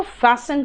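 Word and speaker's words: fasten: फास्ट तेज, लेकिन फैशन जो है था बेटा, ये जो टी है ना साइलेंट है बीच वाला, उसको फैशन कहते हैं।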